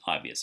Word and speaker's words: obvious: Draw the accent mark after the first syllable, because when you say the word obvious, you have to say the first syllable ob louder compared to the other two.